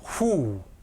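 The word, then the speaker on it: הוּא: 후. 요 알렙은 묵음입니다.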